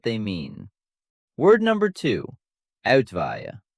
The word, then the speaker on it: Uitwaaien: Uitwaaien, pronounced out-vie-en.